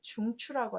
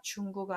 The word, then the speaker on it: 중추: 근데 구가 아니라 추 발음하니까 단어로 꼭 중추라는 단어로 외우셨으면 좋겠습니다. 중구가 아니라 중추, 뭐 이런 식으로.